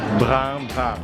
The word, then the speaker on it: Brun: Jadi cara bacanya bukan burung-burung, tapi brang. Coba bilang, Brang Zang. karena O ketemu N jadinya ang, jadi brang.